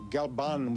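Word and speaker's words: Galbán: collaboration with manuel galbar pronounce it for me galban with an n on the end go bomb wonderful music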